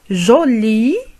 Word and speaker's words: jolie: هنا نضيف حرف e في الأخير بالنسبة للمؤنث، لكن لا يتغير النطق، تبقى جولي بالنسبة للمذكر وجولي بالنسبة للمؤنث، الفرق فقط في الكتابة.